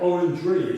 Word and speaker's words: orangery: Not orangery, it's not an orange tree. No, orangery. Orangery. Yeah, I have trouble It's pronouncing like it.